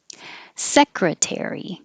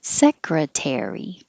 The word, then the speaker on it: secretary: Secretary. You will hear tear because it's secondary stressed, so you'll hear the vowel air, but it's longer, not higher. Secretary.